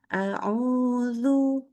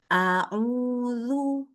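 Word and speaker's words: أعوذ: Jadi contoh auzu auzu. Oke. Tidak boleh dibaca begini. Auzu auzu. Ini terlalu mangap ya.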